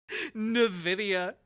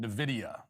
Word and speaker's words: Nvidia: Nvidia oh no Nidia it sounds like an African country yeah when you say it wrong maybe you've heard of something called Nvidia it sounds like a